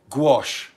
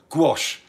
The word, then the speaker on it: gouache: You pronounce it gouache, just wash with a g, gouache.